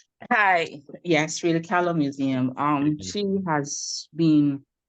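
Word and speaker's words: Frida Kahlo: Help me with the pronunciation. Freda Ko Museum. Hi. Yes, Freda Ko Museum.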